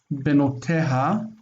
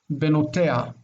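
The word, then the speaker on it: בנותיה: Her daughters, Benoteha. Benoteha. Many times this hey is like not pronounced. Instead of Benoteha, which is what you're supposed to say, people say Benotea.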